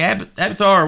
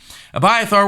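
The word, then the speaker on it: Abiathar: cut by a third David did not say Avatar where you at byathore that's his name I'm sorry it was mispronouncing it abyath are where you at I need that ephod uh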